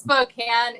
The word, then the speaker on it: Spokane: a big city guy just Spokane is how the locals say it so but anyway the